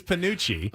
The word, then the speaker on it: penuche: Is it Panucci? It is Panucci.